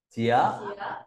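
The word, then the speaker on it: 卩: ta viết bộ tiết nó về dấu ấn đọc là gì chía cha cùng đọc chía chía thì Cái chữ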